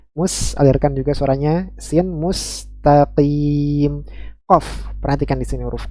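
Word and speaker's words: مستقيم: EQ memantul ketika sukun ada yang membacanya tertukar antara huruf qf dan Kaf sehingga mustaqim yang seharusnya dibaca dengan huruf q malah dibaca dengan huruf ka mustqim mustaqim ya Ini juga suatu kekeliruan ya kemudian terakhir huruf mim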